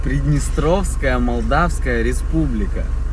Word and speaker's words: Приднестровская Молдавская Республика: Приднестровская Молдавская Республика.